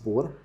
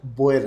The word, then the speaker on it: Boer: आते वक्त करेक्ट किया, Fahad please do नॉट यूज़ बोर, क्योंकि एक और इंग्लिश में वर्ड है BOAR जो कि सुअर के लिए इस्तेमाल होता है. तो हम BOER बोयर प्रोनाउंस करेंगे.